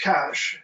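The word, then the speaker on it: cache: put a question mark that's spelled c-a-c-h-e then that's cash and that's basic well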